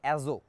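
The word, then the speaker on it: azote: পি উচ্চারণ হয় না, এক্ষেত্রে শেষের যে টিটা আছে এটা উচ্চারণ হবে না, সুতরাং উচ্চারণটা হচ্ছে অ্যাজো।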